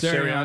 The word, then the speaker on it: Sirianni: Sirianni? Yes. Sirianni.